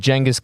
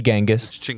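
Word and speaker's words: Genghis: all the greats and yeah I said D Jenis that's how you say it J don't be saying genas sound uneducated chingus um so you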